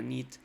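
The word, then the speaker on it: knit: que nit corresponde bueno incluso bien pronunciado en inglés sería nit corresponde con tejer el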